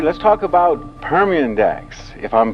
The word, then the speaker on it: Permindex: them work somewhere all right let's talk about permian dax if i'm pronouncing it correctly that is correct uh that's